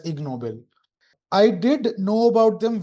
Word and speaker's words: Ig Nobel: Ashmita uh mentioned uh they are written as IG Nobel prizes. So together combined it's pronounced as ignoel.